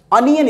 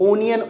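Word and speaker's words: onion: और प्याज तो सबको पता ही होगा, ओनियन बोलते हैं, बट अनियन इसको बोलते हैं. इसका जो करेक्ट प्रोनाउंसिएशन है वो है अनियन. कुछ लोग ओनियन ओनियन बोलते हैं तो इसलिए मैंने यहाँ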